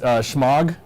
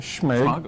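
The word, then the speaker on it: Smaug: Schmog, that's how you say it. Schmeg.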